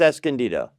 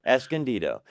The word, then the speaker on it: Escondido: It's Escondido. Escondido? Escondido. It's not Escon or not Escon, it's Escondido. The c l n is Escondido.